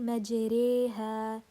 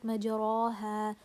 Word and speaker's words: مجريها: So we say مجريها, ريها, not مجراها, مجري, re, this sound which is the light sound, and we pronounce it muraqqaqa, مجريها.